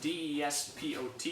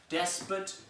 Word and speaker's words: despot: on page 39, despot, D-E-S-P-O-T, it says despot and despot. Those are the two different ways. Despot or despot, actually, because it's accenting that syllable, despot. Two different ways to pronounce the word.